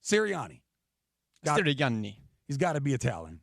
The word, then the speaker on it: Sirianni: Sirianni. Sirianni.